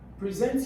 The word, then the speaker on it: present: But now when you say present yourself, that means show yourself. Come here. That's a word. That's a verb.